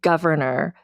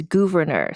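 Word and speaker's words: Gouverneur: Like it looks like Governor, but it's Governor.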